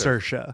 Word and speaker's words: Saoirse: Hence, it's spelled Saoirse, Yep. but it's pronounced Saoirse.